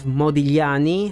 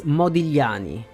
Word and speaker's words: Modigliani: be pronounced we have modani who was an Italian painter and sculptor by the way and the GL sound is pretty hard to reproduce many Italian people can't even say it I was one